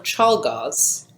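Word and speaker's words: Czolgosz: we get to the mckinley assassination yeah leon chalgaz i looked up how to pronounce it he assassinated president mckinley and i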